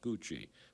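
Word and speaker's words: Củ Chi: outside of a town called coochi pronounced C CI coochi but spelled c CI there was a village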